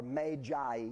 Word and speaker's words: magi: This is magi or magi as we pronounce it.